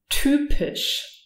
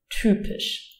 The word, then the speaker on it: typisch: Y, pronounced like a Ü. Typisch.